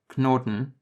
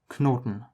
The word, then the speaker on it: Knoten: The difference is that in English, the K is silent, but in German it's not. You can see this in words like Knoten, which is knot, and Knie, which is knee.